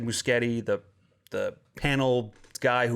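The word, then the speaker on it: Muschietti: i think for years i've been saying is moushetti but it's muscati that's how you probably pronounce it guillermo says does he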